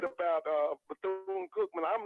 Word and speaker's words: Bethune: So let me just tell you now, Bethune.